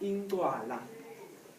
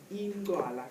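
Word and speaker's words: Incwala: this is pronounced Ingwala. Ingwala. Can you try that? Ingwala. Now I can hear the click.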